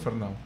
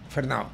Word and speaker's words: Fernau: Si es alemán es Fernau. Fernau.